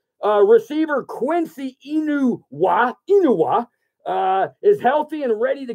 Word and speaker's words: Quincy Enunwa: the office, so I didn't mess up the pronunciation of this name. Receiver Quincy Enunwa is healthy and ready to go.